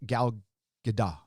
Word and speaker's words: Gal Gadot: I like Gal Gadot.